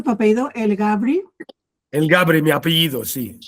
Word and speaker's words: Elgabry: ¿Cómo se pronuncia tu apellido? El Gabri.